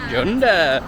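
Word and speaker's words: Cunda: Gund chunda whichever you want to call it junda it is spelled Gund yeah you but it's pronounced appar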